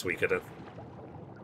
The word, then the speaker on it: Suikoden: That's how I learned that the way you pronounce them is Suikoden.